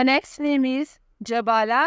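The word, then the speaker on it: Jabala: मानी है आली कदर the next name is जबाला spelling है जे ए बी ए एल ए जबाला नाम के मानी है बड़ी कदो कामत वाली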